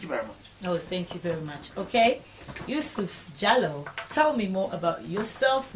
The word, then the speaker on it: Jalloh: much oh thank you very much okay youu jallo tell me more about yourself now as you